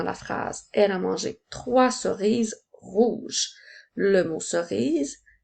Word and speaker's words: trois: s'écrit o i s rappelle-toi que la lettre S est une lettre muette je peux l'utiliser dans la phrase elle a mangé trois cerises rouges le mot